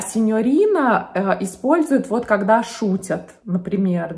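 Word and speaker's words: signorina: с испанским языком и итальянское слово сеньорина произносит как сеньорита потому что видимо ну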